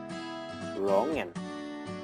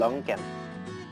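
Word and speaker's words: longan: ภาษา เดนมาร์ก ลองแกน ลองแกน เขียน เหมือน กัน แต่ ออก เสียง ต่าง กัน นะ ครับ ภาษา อังกฤษ จะ ออก เป็น ร้อง แหง่น เป็น งอ งู นะ ครับ แล้ว ก็ ภาษา เดนมาร์ก จะ ออก เป็น รอง แก่น เป็น ออก เสียง เป็น ก ไก่ นะ ครับ ตัว G แล้ว ว่า ภาษา ลาว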